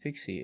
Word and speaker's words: PKCE: pkce what is pkce proof of key code exchange and is pronounced pixie is an extension of